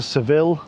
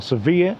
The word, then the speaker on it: Sevilla: So, I've got here to Seville or Sevilla, however you want to pronounce it.